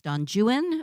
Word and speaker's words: Don Juan: My favorite was seeing the end of Lord Byron's Donjuan, which is how the British pronounce it.